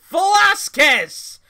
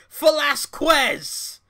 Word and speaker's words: Velasquez: ] out of me it's Cain Velasquez not cave Velazquez you fiends you book it you numb for brains for sake it's Cain Velasquez my cane flask was